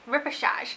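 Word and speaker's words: Repêchage: from a brand called massage that's how you pronounce it repechage and we use this brand when I was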